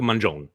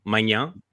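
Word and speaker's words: Maignan: Mike, we call him Mike Mangione because he plays for Milan, so he becomes Italian. Mike Mangione. Magnan en français, oui, but Mike Mangione, you could do either or.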